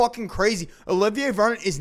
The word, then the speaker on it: Olivier: name a little ba uh no it's actually Olivier oh I don't think that's